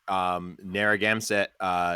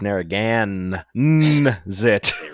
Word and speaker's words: Narragansett: I have a really tasty Narragansett shandy. Ooh, Tom, summer shandy, you. You got to get that M out of your mouth, brother. It's Narragansett.